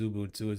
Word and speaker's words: Xubuntu: Xubuntu, it's with a Z, an X, pronounced Xubuntu.